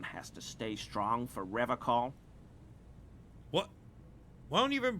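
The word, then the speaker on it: Revachol: to stay strong for rev call what why don't you even pronounce the place right he pronounces revon with a hard K unlike other people that feels skey serious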